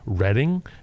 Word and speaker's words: Reading: west of here it's spelt reading but it's pronounced reading because pennsylvania there were two people running for